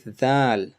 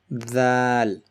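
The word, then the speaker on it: ذال: Next we have is Thal. Thal is pronounced when you basically bite your tongue, tip of your tongue, like this. Thal.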